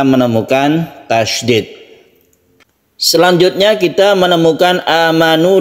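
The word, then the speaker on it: آمَنُوا: Di sini ada a yang panjang, ini adalah mad badal. Badal artinya ganti. Aslinya ini adalah sukun hamzah. Jadi ada hamzah, disukun hamzah lagi. Amanu. Karena di dalam Al-Quran tidak ada yang berbunyi a, i atau u, karena sudah diganti menjadi mad. Maka membacanya itu kita panjangkan a-nya ini.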